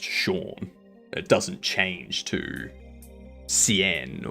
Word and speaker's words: Sean: If you have someone called Sean going to Sweden, it's still pronounced Sean.